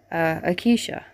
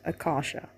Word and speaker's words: Akasha: Akisha. Now, Akisha was supposed to be, or should I rather say, the way you're supposed to pronounce the name is Akasha, which is supposed to mean Queen of the Damned.